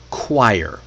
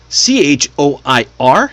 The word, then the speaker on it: choir: It's choir. Choir. C H O I R. Yes, that's right. is pronounced choir. It rhymes with fire.